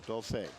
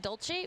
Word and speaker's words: Dulce: I was mispronouncing that all day yesterday and a bit today, but I think I got it now. Dulce. Dulce. Yeah, I thought that Dolce was how it's pronounced, but Yeah.